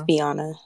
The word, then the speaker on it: Viona: Now, Viona, am I pronouncing your name right, Viona? It's Viona. Viona.